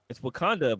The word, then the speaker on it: Wauconda: It's Wakanda, but it's spelled Wauconda, and it's in Illinois.